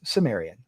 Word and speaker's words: Cimmerian: If you speak English it's Cimmerian.